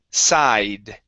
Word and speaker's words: sighed: leaned good okay here in this word the gh is silent we do not pronounce them so instead of it's side side site good okay